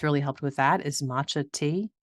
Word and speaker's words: matcha: helped with that is matcha te did I say that right I always say it wrong it's not matcha yeah it's matcha mat a t c ha um it's a green